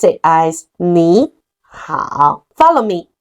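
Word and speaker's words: 你好: Third tone plus the third tone. The first one gonna be pronounced as second tone. So we pronounce it as 你好. Follow me. 你好.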